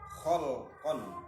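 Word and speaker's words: خَلْقًا: kang luwih sempurnane makhluk khalqon apane kedadiane wa khuluqon lan budi pekertine. Dua lafadz tulisannya sama, bacanya beda, artinya pun juga beda. Khalqon wa khuluqon. Mab'utsun kang den utus fi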